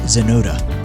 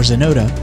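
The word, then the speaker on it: Xenota: Intro music graciously provided by Jesse Johnson, aka Zenota. Find more great music by searching Jesse Johnson or Zenota, spelled with an X, on YouTube and most major streaming platforms.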